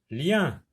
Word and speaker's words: lien: L avec yin, lien.